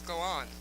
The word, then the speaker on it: Galan: It's Andreas Galan, so my apologies if I've been saying Galen, which I believe I have.